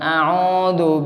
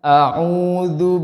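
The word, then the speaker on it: أعوذ: Bukan au Pak. Bukan a'udzu billah, bukan. Jadi jangan pakai alif Pak ya, huruf ain Pak. Jangan sama seperti huruf alif Pak ya. Salah besar Pak. Jadi bacanya a'udzu billahi minasy syaithanir rajim.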